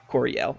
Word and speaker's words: Coryell: and weaknesses and such it's a Coryell by the way three syllables Coryell okay and well role